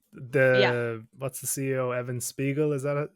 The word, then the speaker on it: Spiegel: what's the CEO, Evan Spiegel? Is that how you pronounce it? Spiegel.